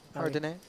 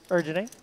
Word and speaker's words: Erdene: How are we pronouncing that? Erdene. Erdene, lovely.